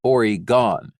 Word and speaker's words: Oregon: for how long they were in Oregon but nurse ratchet said it was actually origon I know how to